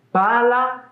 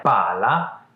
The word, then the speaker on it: pala: Pala e palla. Hai sentito qualcosa di particolare? Pala e palla.